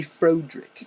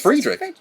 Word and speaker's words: Friedrich: Oh, do you also say Frodrick? Frodrick? No. No, because it's Friedrich. It's Friedrich Frankenstein.